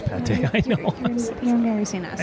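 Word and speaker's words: pâté: in the patois. Is that how you say it? The pate? Oh, it's pate.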